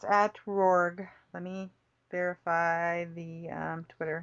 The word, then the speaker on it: RORGG: It's at Rorg. Let me verify the Twitter handle for him. Poor thing. Let's see. Following. RORGG. RORGG, Yep. which is pronounced RORG.